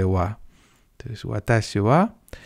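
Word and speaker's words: は: Y esa sílaba en principio se lee ja, pero también por una serie de acontecimientos históricos complejos que se mantienen a día de hoy, en vez de leerse ja, se lee wa.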